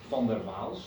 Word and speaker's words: van der Waals: And then we have the van der Waals interaction, or van der Waals, if you pronounce it the Dutch way.